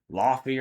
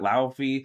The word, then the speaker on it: Laufey: which we thank you so much for the pronunciation cuz we would have said Laufey or something like that. Laufey.